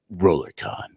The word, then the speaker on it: RollerCon: us who've never experienced RollerCon yeah you have to say it like a rollercoaster I can't do it